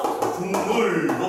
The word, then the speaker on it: 국물: 기역이 인접한 미음 때문에 무슨 일을 하면서? 국물로 발음되는 거야.